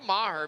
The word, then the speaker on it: Maher: So I say Maher because it's spelled M-A-H-E-R. So to me, that, if I were to pronounce it, but the PA announcer's calling it Mayer, so I'm gonna go with that.